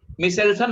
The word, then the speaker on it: Meselson: मिशेल्सन बोलेंगे, मिशेल्सन। अच्छा मिशेल्सन, ओके हाँ, मिशेल्सन। मिशेल्सन एंड स्टॉल, सर वो स्पेलिंग के लिखिए MESEL।